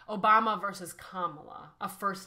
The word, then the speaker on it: Kamala: let's not repeat that it's kamla Harris that's how you say it vice president Harris